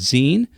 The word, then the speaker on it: zine: on with the U it's pronounced Zen uh I have some